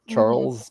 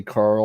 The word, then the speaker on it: Charles: my first name yeah charles my first name and there's only a few times i've had mine actually mispronounced like sometimes people will say carl or really yeah i'm like